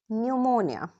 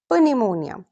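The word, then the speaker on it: pneumonia: now notice something वेरीेंट इफ a word starts with P एस और पी N don't pronounce P सो वी से psychology not प psychology निमोनिया नॉट पनिममोनिया ignore the P very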